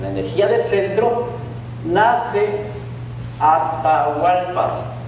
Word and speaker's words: Atahualpa: En Quito, en la energía del centro, nace Atahualpa, que en realidad se escribe Jatahualpa.